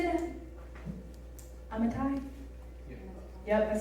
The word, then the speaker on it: Amittai: Amittai?